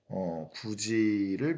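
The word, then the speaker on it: 굳이: 구지를 발음해 봤더니 구지 됐죠? 지읒으로 바뀌었습니다. 디귿이 지읒으로 변화.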